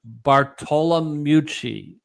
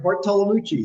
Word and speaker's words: Bartolomucci: But I'm going to say Bartolomucci. Am I close? Oh, wow, that's way better, Mike. Good job. Good job. Now you do it. Go ahead. How do you pronounce it? Was I there? Yeah, you're there, Bartolomucci. Yeah, you did really, really well.